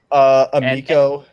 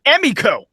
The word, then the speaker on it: Emiko: Amiko. No, Emiko.